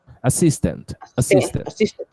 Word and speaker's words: assistant: Assistant. Isso. Isso. Cis é a sílaba forte.